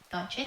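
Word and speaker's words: Dončić: And also, Poch is a big Luka Doncic. Did I say his name right? Doncic?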